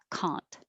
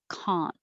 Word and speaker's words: Kant: is a name and it's pronounced with an ah kant and 26 is um